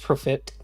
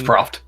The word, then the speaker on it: Proft: We're starting with our good old friend here, Alquist Profit, Master Sleuth. He's a... I don't know how to... It's Proft.